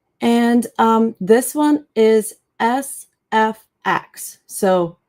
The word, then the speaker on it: SFX: Um a lot of abbreviations, if you come come across some abbreviations, they're usually spelled out by letters, um unless there's some vowels in there or and um unless they're longer. So, in this case is just SFX.